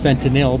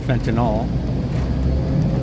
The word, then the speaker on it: fentanyl: It's actually pronounced fentinil, but everyone calls it fentinol.